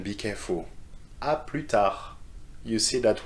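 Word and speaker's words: à plus tard: of pronunciation be careful aprita you see that we don't pronounce the s in this one and in the shortened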